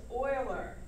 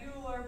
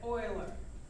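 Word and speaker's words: Euler: and know this formula and the name is Oiler not uler but Oiler so we want to pronounce it o i l e r Oilers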